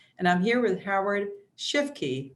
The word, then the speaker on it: Shifke: And I'm here with Howard Shifke, right, Howard?